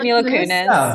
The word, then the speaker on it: Mila Kunis: How do you pronounce Mila Kunis? Is that it? I think That's it. right. Mila Kunis.